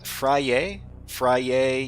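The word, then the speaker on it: Vrije: So Fraye University sounds like true in French. Sounds like true in French. Vrai? Vrai is French, right? Fray. So it's Fray, but it's vrai, not vrai, but Fray.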